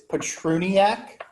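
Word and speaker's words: Patroniak: gonna correct you because it's patroniac four syllables and uh you forgot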